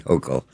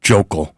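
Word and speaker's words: Hochul: York State Governor Kathy Hokll enormous political and financial leverage over any mayor. He mispronounced her name. It's it's Jokal.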